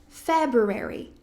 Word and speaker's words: February: Então, é a primeira sílaba. February. February. February. February. Ã, também tem a opção de você não pronunciar esse R, tá? Então, ao invés de você falar fear, February, esse primeiro R que a gente fala, a gente fala um Fabio. February também pode ser Februar.